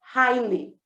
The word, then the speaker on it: highly: Lembrando que o GH no meio das palavras em inglês a gente normalmente não pronuncia. Então, do high eu vou direto para o li, highly.